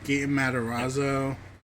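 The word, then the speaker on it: Gaten Matarazzo: so yeah so so just to update here G matazo that's how it's pronounced uh young uh he's a kid but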